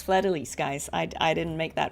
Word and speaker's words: Fleur de Lis: If you were pronouncing it with a French accent, it would be Fleur de Lis. You wouldn't say the S. But in this game, it's Fleur de Lis, guys.